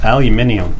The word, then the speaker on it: aluminium: one solid piece of what we would say aluminium yes aluminium that is the correct pronunciation it doesn't weigh much but it's from